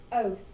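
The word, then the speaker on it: -ose: Ose. Exactly. There was a Nickelodeon commercial a long time ago. It said if it ends in ose and rhymes with gross, it's a sugar.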